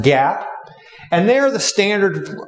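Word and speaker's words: GAAP: generally known as general accepted accounting principles or pronounced Gap and they are the standard uh framework for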